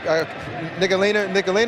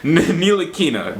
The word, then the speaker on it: Ntilikina: what Frank Nicolina, is that how you pronounce it? Ntilikina, that dude.